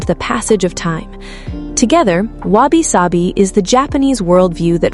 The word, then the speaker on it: Wabi-Sabi: Wabi-Sabi, pronounced Wabi-Sabi, written with characters whose individual meanings are difficult to pin down in English.